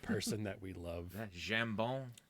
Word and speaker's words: jambon: Jambon. That's French for ham. But Jamon? no, jambon. Jambon. My You're favorite word. pronouncing it like Spanish. Yeah, you're Don't right. do that. Jambon. Yeah, you're thinking Spanish. Jamon.